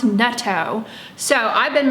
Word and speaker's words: natto: your mouth, or you're talking and it's like natto, you know, which actually someone commented in one of my videos, it's pronounced netto.